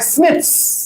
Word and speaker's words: SNPs: আজকে একটা নাম দেবো যাকে বলা হয় স্নিপস।